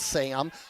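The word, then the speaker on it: Syam: is their leading rusher s-y-a-m but pronounced sam and he's gonna get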